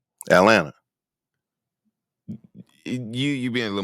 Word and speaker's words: Atlanta: how I say it you leave off the second T Atlanta you you being a